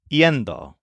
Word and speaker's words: yendo: Well, for ir, it's simply yendo. But we'll change the first letter from I to Y. So it's spelled Y-E-N-D-O.